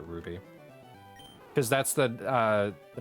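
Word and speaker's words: RWBY: all right what show it's called Ruby but it's it's spell yeah spelled like that our W by y but everybody just calls it Ruby cuz that's the uh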